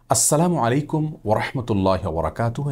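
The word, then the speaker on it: السلام عليكم ورحمة الله وبركاته: দ্বিতীয়ত যে ভুলটি আমাদের হয়ে থাকে তা হলো বিকৃত এবং অশুদ্ধ উচ্চারণে সালাম দেওয়া। অনেকে সালামু অনেকে সালামু আলাইকুম এরকম বিভিন্ন বিকৃত উচ্চারণে সালাম দিয়ে থাকেন। জনক ইয়াহুদি আমাদের প্রিয় নবী সাল্লাল্লাহু সাল্লামকে বিকৃত উচ্চারণে সালাম দিয়ে বলেছিলেন আসসালামু আলাইকুম। যার কারণে আসসালামু আলাইকুম ওয়ারাহমাতুল্লাহি ওয়াবারাকাতুহু। এভাবে বিশুদ্ধ উচ্চারণ আমাদেরকে সালাম দিতে হবে।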